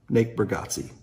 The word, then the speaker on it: Bargatze: Nate Bargatze.